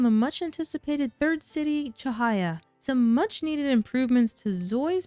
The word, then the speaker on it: Cahaya: Today, I'd like to start things off by talking about the Chahaya update. And yes, that is the correct pronunciation of this lovely city based on Indonesia.